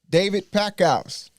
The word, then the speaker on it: David Packouz: All right, today we got a special guest in the building, in the studio, in the lab, David Packouz. And I am pronouncing his name right, all right?